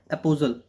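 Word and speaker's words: apostle: एपोजल टी T silent होता है। एपोजल।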